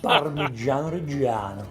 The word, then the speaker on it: Parmigiano Reggiano: Fantastic pronunciation. Parmigiano Reggiano.